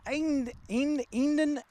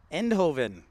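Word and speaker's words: Eindhoven: that's that's Justified hey St Ranger how is inden I can't even say it right end Hoven there we go how you doing this evening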